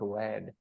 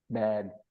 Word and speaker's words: bad: is yes bad okay it's not wad bad lips touch together when we say B okay bad this is